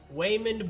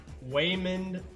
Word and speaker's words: Waymond: It kind of sounds like a kid is trying to say Raymond. Waymond Bryant.